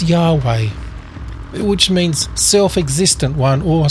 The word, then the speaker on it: Yahweh: and speaking of name there's a bunch of research into how to say this word but the best guess so far is Yahweh which means self-existent one